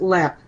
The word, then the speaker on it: Leap: LEP Castle it's uh spelled leap but it's pronounced LEP Le castle and it's